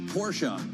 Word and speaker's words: Porsche: Yes, Porsche. I will point out that's someone's name, right? And that's how you say it.